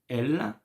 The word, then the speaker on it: elle: You know, you don't hear the last two letters. It's not ls. No, it's elle.